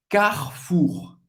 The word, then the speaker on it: Carrefour: Você vai ter que pronunciar esse R bem francês, bem gutural, ok? Carrefour. Você não vai pronunciar o E no meio.